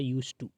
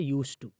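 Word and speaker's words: used to: इसका जो प्रोनाउंसिएशन होता है वो होता है यूज टू, ठीक है, यूज टू, ये इसका प्रोनाउंसिएशन है, ठीक है। यहाँ पर डी साइलेंट होता है, यूज टू, यानी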